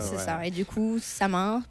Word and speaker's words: Samhain: Et du coup, Samin, prononcé Sowin, qui vient des sabbats de sorcières, qui est l'un des plus importants sabbats de sorcières.